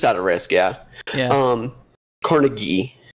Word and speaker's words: Carnegie: of risk yeah um Carnegie is is the pronunciation of the guy's name yeah Carnegie um